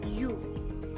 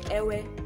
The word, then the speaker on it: ewe: You. You. Do not say ewe or ewe. It's you. You.